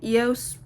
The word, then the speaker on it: EOS: And then I also use the EOS, that's how you pronounce it.